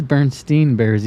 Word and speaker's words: Berenstain Bears: But if you mispronounce it, but you're not going to mispronounce the stain part. Right. Because it is Bernstein Bears, even if it's spelled AIN.